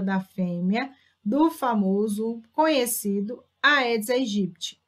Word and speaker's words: Aedes aegypti: fêmea do famoso conhecido aedes aegypti muita gente fala que a pronúncia correta edson egypt é em pessoas sadias